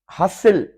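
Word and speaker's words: hustle: हसिल, हसिल basil जैसे होता है, गहमा गहमी होती है, हसिल बसिल। हसिल, टी साइलेंट है।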